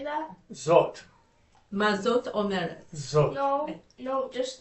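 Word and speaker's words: זאת: zot.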